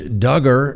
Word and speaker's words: Duggar: a person of interest josh duggar rhymes with hugger well all of his